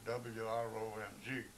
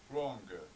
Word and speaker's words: wrong: a paragraph, and I came across the word W-R-O-N-G, and I said, wrong. He says, you're not pronouncing that correctly.